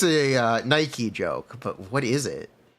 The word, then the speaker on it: Nike: is very different H shouldn't it technically be pronounced Nike but I don't think they can get away with that I think that one's copywritten cuz the goddess of Victory is Nike that's how it's pronounced that's why the shoe